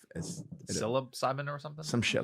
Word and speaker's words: psilocybin: Yeah, psilocybin, Psilocybin. commonly known as magic Of course, mushrooms. spelled with a P because we want to Yeah. fucking confuse everyone.